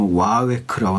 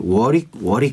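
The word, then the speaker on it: Warwick: 와웨크라고 써 있었어. 와웨크. 발음대로 하면 그게 맞겠다. 와웨. 근데 얘도 지금 일본어로니까 와우이크. 와우이크. 이거를 보고 그렇게 쓴 것 같아 표기를. 근데 나는 이거 옛날에 형들이 워릭 이렇게 얘기했거든.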